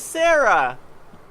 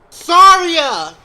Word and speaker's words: Saria: Who the hell is Sarah? Saria!